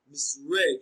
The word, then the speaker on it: misread: Misread is pronounced as misread. Read is pronounced louder and longer.